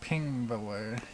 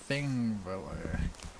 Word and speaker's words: Þingvellir: So this isn't Pingvellir, it's actually Thingvellir. So that's a common thing you'll see in Icelandic language. You'll see they have their own alphabet, so a lot of these different letters are pronounced differently than you would think.